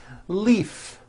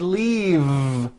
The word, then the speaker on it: leave: Leaf is that correct no it's not leaf with an unvoiced F I should have said leave with a voiced V sound fisa she just received